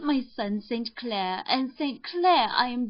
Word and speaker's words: St. Clair: Donnell, accent on the last syllable, and St. Clair, on no account Jacob, you remember?